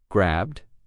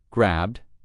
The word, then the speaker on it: grabbed: But between these three verbs, we either pronounce the ed ending as a d or a t. Grabbed. Grabbed. That's the d ending. And locked. Locked. That one has the T ending.